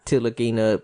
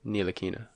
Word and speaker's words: Ntilikina: Let Tilakina play 40 minutes a game. Ntilikina. The T is silent.